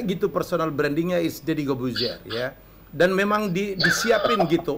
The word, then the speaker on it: Corbuzier: Corbuzier. Harusnya. Corbuzier, ya. Harusnya ya kan? Harusnya R-nya nggak dibaca.